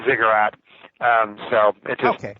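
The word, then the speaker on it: Ziggurat: it Thomas I know it's has a funny pronunciation and a spell yeah zigat Lounge zi g g Ur r a t zigurat Lounge uh and there is mostly short pieces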